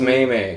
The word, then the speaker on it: meme: It's pronounced Maymay. Maymay.